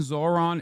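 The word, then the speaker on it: Zohran: The H in Zoran isn't silent.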